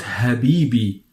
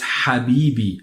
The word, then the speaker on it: Habibi: another word you find Habibi Habibi so my love or and hope love Habibi so it's not happy be as you may hear it but it's happy be happy be and this